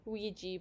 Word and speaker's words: Ouija: By the way, do you pronounce that Ouija board or Ouija board? Ouija board.